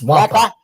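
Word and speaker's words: Nwankpa: It's Wampa.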